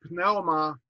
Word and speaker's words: pneuma: Dia to pneuma hagion. So again, they actually pronounce that cluster pna.